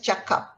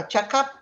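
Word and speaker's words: cakap: you the idea that you have to pronounce it as a ch sound chuck up this means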